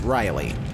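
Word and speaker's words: Riehle: And forgive me for spelling this name out, I'm a little dicey on the pronunciation, but Richard Rielhe, which I'm guessing is pronounced Riley.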